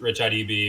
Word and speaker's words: RichaadEB: I go by RichaadEB online, which it is pronounced RichaadEB because apparently it's a lot of people don't really know how to pronounce it.